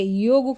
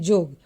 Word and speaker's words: योग: और नंबर 8 है ट को ठ एवं ठ को ट बोलना, या फिर य को ज बोलना, जैसे कि अधिकतर आप देखेंगे योग को लोग बोलते हैं जोग।